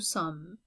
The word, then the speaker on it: sommes: Okay, so notice that we have silent letters here too. Like 3 of the letters on the end are silent. Nous sommes.